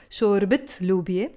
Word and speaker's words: شوربت لوبيا: So almost 99.9% it should be with a T marbuta pronounced. شوربت لوبيا.